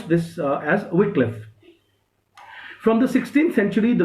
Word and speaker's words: Wycliffe: We pronounce this as Wycliffe.